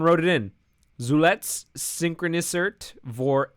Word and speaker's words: vor: V is pronounced like F. So it should be vor 2 Tagen.